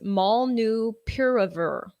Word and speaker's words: molnupiravir: And then Merck's pill called, okay, how do you pronounce this? Molnupiravir.